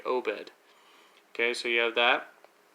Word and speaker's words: Obed: So for example, you'd have O and then the dash, bed. So you would say Obed.